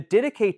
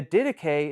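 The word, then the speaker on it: Didache: The dedicay teaches simplicity. The dedicay is something you should look up if you're not familiar with it already.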